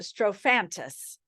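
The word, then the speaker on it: Strophanthus: the herb is up here s-t-r-o-p-h-a-n-t-u-s and it's pronounced strofantis and it's an herb and you can actually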